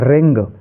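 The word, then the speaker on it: wrong: करना है ऐसे ही डब्लू आर ओ एन जी इसको हम रंग पढ़ेंगे रंग नहीं पढ़ेंगे ओनली रंग पढ़ेंगे ऐसे ही ए एन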